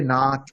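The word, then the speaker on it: नात: It is not nat, not that short.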